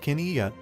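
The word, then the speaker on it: qiviut: Pronounced kiniyat, kiviat is the Inuit phrase for the tender underwool produced with the aid of using musk oxen, prized for its insulating warmth.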